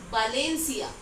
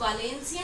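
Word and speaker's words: Valencia: जैसे कि बालेंसिया, इसको आप वालेंसिया नहीं बोलोगे, बालेंसिया बोलोगे, क्योंकि ये वी है। स्पेनिश में आपको बताया कि ये ब से प्रोनाउंस करता है, तो ये हो जाएगा बालेंसिया, ये भी एक प्लेस का नाम है।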